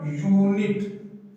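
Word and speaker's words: unit: यहां पर देखिए इसका प्रोनाउंसिएशन क्या लिखेंगे हम? यूनिट। क्या लिखेंगे? यूनिट। यह हम बोलेंगे क्या? इसको ऊ नहीं बोलेंगे, या बोलेंगे यूनिट, और या क्या हो गया? कॉन्सोनेंट होगा। जब ये या कॉन्सोनेंट होगा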